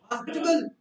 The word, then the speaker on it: hospitable: Next we have क्या pronunciation होगी? Hospitable.